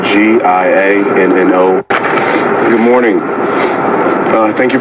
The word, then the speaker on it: Giano: spelled G I A N O.